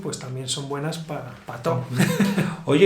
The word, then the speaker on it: pató: Okay, so if patol is para todo el, pato Para todo.